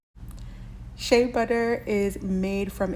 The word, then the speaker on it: shea: is ba so here's how you say it Shay shea butter is made from its fat that's extracted